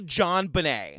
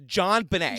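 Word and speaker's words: JonBenét: want to also say her name is actually John Benet and I looked it up it's a portmanto of her dad's first name and last name so it's John Benet yeah that's in my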